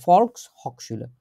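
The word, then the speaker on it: Volkshochschule: একসাথে আর হক শুলে এইটা শব্দটা হচ্ছে এরকম ভাবে উচ্চারণ করতে হবে ফলস হক শুলে ফলস হকশুলের এস আছে কিন্তু মাঝখানে একটা হকশুলের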